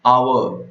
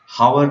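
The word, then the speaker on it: hour: अब इसको कैसे प्रोनाउंस किया जाता है, आवर, करेक्ट, अ से आवर, हावर नहीं, आवर, तो इसीलिए एन आवर, ओके।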